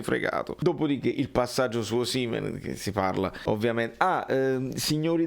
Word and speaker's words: Osimhen: televisioni del nord eccetera, Osimhen si dice, chiaro? L'ha detto lui, cioè la pronuncia del suo paese, Osimhen, no Osimhen, Osimhen, va bene?